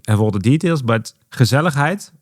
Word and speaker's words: gezelligheid: all the details, but gezelligheid or conviviality, if I say it correctly. Gezelligheid. Yeah. Gezelligheid, so we go the Dutch way.